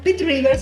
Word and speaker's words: Pitt Rivers: Entonces, la directora del museo, Pitts Rivers, ahora sí lo pronuncia bien, Sí.